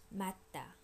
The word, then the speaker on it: 맞다: Remember, 주 is one of those things that become T at the end of a syllable. So it ends with a T and it meets another T, so this becomes stronger. 맞다, 맞다.